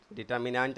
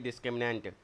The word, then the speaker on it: discriminant: डी क्या होता है डिटरमिनेट नहीं डिस्क्रिमिनेंट देश बोलता नहीं है उच्चारण करो हमेशा सही से बोलो पाच बार पाच बार